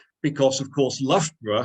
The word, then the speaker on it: Loughborough: pronounce because of course Loughborough has got exactly the same syllables uh pronouncing completely different ways in the same word because the front half of it is lock meaning Lake the back end of it is Germanic as in Edinburgh and Hamburg etc etc or we